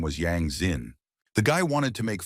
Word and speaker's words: Yang Xin: The guy wanted to make fun of the bespectled man and laughed at his name, mispronouncing it as Yang Jin. But his interloctor didn't like it, and he corrected him.